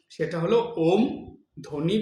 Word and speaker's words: ওম: একবার ওম উচ্চারণ করলেন, উচ্চারণটা কিভাবে হয়? ও উ ম, ওম।